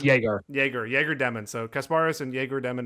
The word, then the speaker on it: Yegor: Number 9, you said it's not Igor Demon. What is his name? It's Yegor Demon.